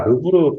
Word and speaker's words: 르브르: 자, 그 다음에 네 번째가 르브르 파운데이션. 우리 르브르 박물관하고 발음 똑같습니다.